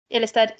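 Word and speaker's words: Ilestedt: Adam, I can't pronounce this one. Amanda. I'm trying to find Ilestead. Ilestead, thank you.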